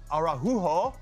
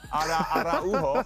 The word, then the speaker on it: Araujo: Ronald Araujo that was a terrible pronunciation. Araujo. Yeah.